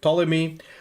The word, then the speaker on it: Ptolemy: So he's got the ability special card, Library of Ptolemy. Am I pronouncing that correctly, Ptolemy?